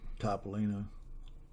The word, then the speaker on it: Topolino: Topolino.